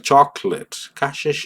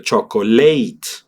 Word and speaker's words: chocolate: No vas a hacer el énfasis de chocolate como si lo hicieras en español porque aquí sí dirías necesito pronunciar fuertes las últimas dos sílabas porque si no no tiene sentido mi palabra. En inglés es chocolate.